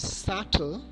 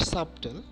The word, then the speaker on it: subtle: It is subtle, not subtle.